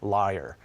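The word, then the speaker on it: lyre: is named after a musical instrument called a liar it's spelled l y re e and it's really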